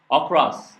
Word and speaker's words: across: across. 그래서 across에서 처음에 a는 접두사예요. 그래서 그걸 어로 발음하는 거예요. 그래서 어로 발음하는 거예요. 강세가 없기 때문에 접두사에.